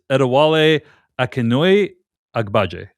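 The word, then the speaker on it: Adewale Akinnuoye-Agbaje: Name of the actor, I may mess up the pronunciation, but I believe it's Adewale Akinnuoye Agbaje.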